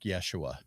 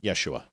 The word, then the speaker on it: Yeshua: Okay, Yeshua. Okay. I thought the H was silent in Hebrew. No, the J is silent. Okay, Yeshua.